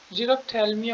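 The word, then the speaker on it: xerophthalmia: Night blindness, जीरोप्थेल्मिया होता है। Zero, मैं एक बार स्पेलिंग ठीक कर देता हूँ।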